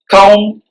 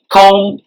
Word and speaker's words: comb: you guess this it's comb hair all right comb hair this is silent b so you don't say